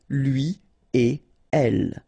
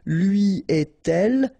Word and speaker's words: lui et elle: read it correctly here, it will go like lui et elle. Alright, so don't think about putting something between the two. Don't think about producing something like lui et elle. No, no, no, nothing here.